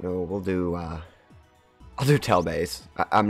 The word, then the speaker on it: Tianlei: I was calling it, I think, Tianlei, because I want to think of it as a Titan, and I think that was just my brain doing that, but it's Tianlei, I think, is how you say it.